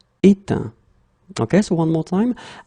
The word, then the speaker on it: éteint: Okay, final T not pronounced. Craindre, craint. Éteindre, éteint.